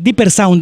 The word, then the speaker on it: Dipper Sound: Parece que ya viene Viper, ¿verdad? Sí. O Dipper, o ¿cómo se pronuncia? Perdón. Ya viene el amigo Viper, Dipper Sound, Dipper con D, Dipper Sound.